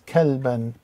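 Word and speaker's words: كَلْبًا: Next one is kaf with the fatha with ka. Lam with the sukoon makes one syllable, kal. And the ba, alif with the fatatain is kalban, kalban.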